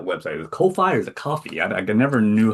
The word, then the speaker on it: Ko-fi: Is it coffee? I I never knew how to say it. I believe it is coffee. It's spelled very very strange. It's the um Ko-fi.